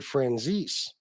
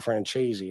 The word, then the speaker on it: Franzese: Michael, he pronounced it Franzese. It's like, all right, well, whatever. It certainly is spelled a lot more like Franzese than like Franchese, but a lot of people just call him Michael Franchese, and that ain't going to stop, I guess.